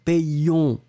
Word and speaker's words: payions: On doit faire la différence entre nous payons au présent de l'indicatif et nous payons qui doit être légèrement plus long.